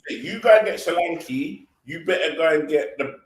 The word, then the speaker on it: Solanke: go and get a Solanke, I'm saying his name wrong, Sri Lanka. But if you're gonna go and get a Sri Lanka, Solanke, yeah.